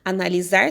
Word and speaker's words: analisar: fica analisar com s analisar tem som de z mas se escreve com s abuso tá vendo aí